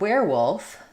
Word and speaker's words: werewolf: But in the word werewolf, even though it's spelled like were with the sound, it's pronounced like where with the air sound.